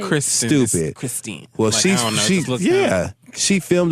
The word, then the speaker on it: Christen: It's Christen. So it looks like Crystal, but it's Kristen. Like anyway, it's Christine. Which again, it's like Kristen.